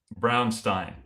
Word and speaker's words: Brownstein: Brownstein. So, he's like he's like brown like the color because it's he